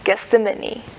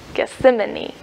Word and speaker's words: Gethsemane: Gethsemane. Gethsemane. I'm probably saying it wrong. It's kind of like that word, see an enemy.